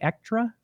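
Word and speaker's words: Echtra: acquired extra games i believe it's how it's pronounced uh e-c-h-t-r-a ektra i believe uh torchlight three is the game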